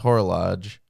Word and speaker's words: horologe: it's horologue is an archaic noun and it's pronounced horologe horological it means a timepiece gotcha okay so